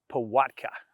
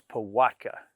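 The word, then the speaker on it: pałatka: Um, it's pronounced Pattka, right? There's that L with a line in it is a a Wii. So, it's Pattka.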